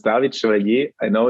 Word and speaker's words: Chevalier: i'm talking to yes exactly so it's david schwarze i know it's french so it's a bit hard to pronounce um i'm actually german and i have